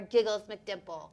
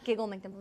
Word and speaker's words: Giggle McDimples: And they were like, that's our Giggles McDimple. Yep. Did I say it right? Yeah, Giggle McDimples.